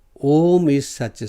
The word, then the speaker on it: Om: The first letter A is root sound, is the root sound. The key, pronounced without touching any part of the tongue or palate. A. M represents the last sound in the series, being produced by the closed lips. And the U rolls from the very root to